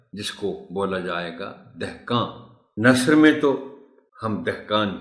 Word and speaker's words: دہقان: بولے، دونوں درست ہے۔ دہقان، دہقان اسی طرح بولا جانا چاہیے جس کے معنی کسان